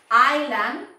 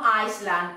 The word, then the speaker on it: island: For example, in your case, Millie was navy, island, no Iceland, ojo por ahí, eh?